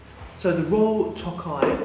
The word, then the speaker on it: Tokaji: So the main pronunciation here that you want to use, really, from a guest perspective, is Tokaji, and it's produced by the Royal Tokaji company.